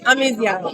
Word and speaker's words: Amisial: How do you pronounce your last name? Amisial.